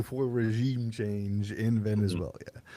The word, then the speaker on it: Venezuela: But even outside of that, even if you had congressional approval to strike Venezuela, There's no I at the end, just Venezuela.